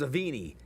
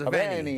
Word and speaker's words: Aveni: I thought it was Avini. And then he goes Aveni.